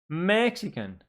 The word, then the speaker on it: Mexican: Mexican. Mexican. 3 syllables, and the stress in the first syllable, so it goes here.